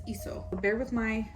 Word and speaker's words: Leeseo: I always say Leeseo just out of a habit because I see the L, but it's ISO.